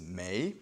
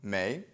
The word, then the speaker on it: 没: Now we're going to learn about the other negator, and that is may. It's written right here, M-E-I, second tone, may.